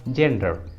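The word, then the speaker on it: gender: अगला एग्जाम्पल देखिए जेंडर, जेंडर इस इंग्लिश वर्ड में भी जी के बाद है ई, जी के बाद ई है, इसलिए रूल के अनुसार जी का उच्चारण होगा ज, इसलिए सही उच्चारण होगा जेंडर, जेंडर।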